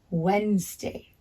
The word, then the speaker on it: Wednesday: So we spell Wednesday with a capital W, E, D, N, E, S, D, A, Y. Wednesday, Wednesday. And Wednesday has 2 syllables.